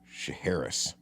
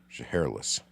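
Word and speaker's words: Shiherlis: Uh, I think it's Shaharis. Shahless. She hairless. Yeah. Like she's hairless.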